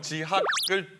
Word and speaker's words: 지하크: 아니 선생님 지난번에도 혹시 그 지하크? 아, 예. 아 이거 뭐 명찰이신가요? 아, 네, 명찰 오늘 새로 해왔습니다. 지하크가 뭔가요? 아, 저희 별명 지학을 뒤에를 크로 좀 발음을 지하크. 세게 해가지고 지하크.